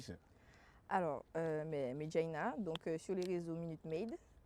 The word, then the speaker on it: Maidjaina: On se retrouve sur un épisode de Plus avec Madjanina, si je prononce. Non, Medjaina. Medjaina. Oui. Y a pas hein? Medjaina. M-A-I.